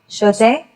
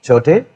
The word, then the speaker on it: छोटे: Shote. Chote.